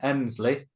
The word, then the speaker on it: Emslie: podcast Doug I should have asked how I'd pronounced your last name not not your first name emsley emsley dley I got it right yeah you